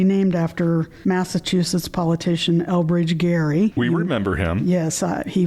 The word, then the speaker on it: Gerry: pronounced his last name Gerry. Mm-hmm. It's Gerry, but it's a hard G. Some people have thought that is pronounced Jerry, so yes.